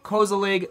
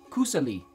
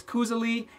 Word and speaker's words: koselig: well that's how we say it in America Koza League but it's actually pronounced hold on hold on it's actually pronounced COO silly COO silly yes in its norwegian or yeah